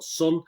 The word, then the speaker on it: Son: And the next one we got is Sun, S-O-N, so Son, but Sun. I would pronounce it as a UK guy.